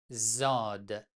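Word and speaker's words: ضاد: Zod en persan se prononce comme Z en français, mais Zod en arabe se prononce différemment, se prononce comme quelque chose entre D et Z.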